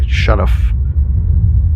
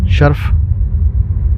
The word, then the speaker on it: شرف: کر حاضر خدمت ہے۔ آج کا لفظ ہے شرف، جو درست ہے۔ شرف جو مستعمل ہے وہ غلط ہے۔ معنی بزرگی، بلندی، برتری، ترجیح، فوقیت، عزت، افتخار۔ اس مرکبات ہیں، پیش کرتا ہوں۔ شرف باریابی، خدمت میں حاضر